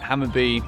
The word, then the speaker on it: Hammarby: would've been a fair result today I think hammer be for small stays out of the iCore and